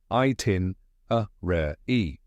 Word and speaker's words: itinerary: here's the correct pronunciation itin rare e let's break it down step by step the first part is I like the word I next is tin like a tin can then uh a short